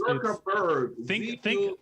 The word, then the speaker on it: Zuckerberg: No, it's Zuckerberg. think sucker. Okay. Sucker. There you go, but with a Z. Yeah. Okay. Zucker. Zuckerberg with a Z instead of an S.